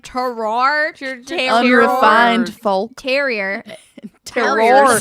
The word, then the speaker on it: terroir: Paso Robles, unique terror. Got me. Terror. Terror. What? It's spelled Terroir. Oh, terroir. Yeah, that's better.